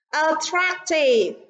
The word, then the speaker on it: attractive: Attractive, active, sensitive, talkative. Vậy đáp án trong câu số 1 chính là câu A. Vì attractive, trọng âm rơi vào âm tiết thứ hai.